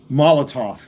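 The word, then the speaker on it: Molotow: Um, Molotov it's called. People don't know how to say it correctly. The W at the end is uh pronounced as a V, but this is a Molotov uh chrome marker.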